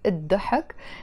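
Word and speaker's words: الضحك: laughter and the hawk I write it as L the hawk but we pronounce it as the hawk means the laughter or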